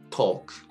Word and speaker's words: talk: 알파벳 A 또는 알파벳 O 다음에 LK가 나오게 되면 이때도 L이 묵음이 됩니다. 대표적인 예로는 fork, talk, walk가 있겠습니다.